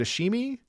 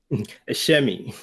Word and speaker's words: Ashemi: I've been saying it wrong. Is it Ashimi? A shemi.